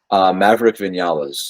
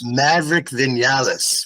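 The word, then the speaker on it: Maverick Viñales: who is with, and then how do you pronounce his name? Maverick Vinales. Maverick Vinales.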